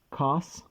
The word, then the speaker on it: cos: Cos, short for cosine, so sine, cos, and tan.